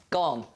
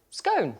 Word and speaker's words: scone: Jane had said, "How do you pronounce scone?" Yeah. And I said, "Scone."